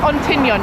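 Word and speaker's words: Ontinyent: It's Ontignon you meant to say. I said it wrong earlier.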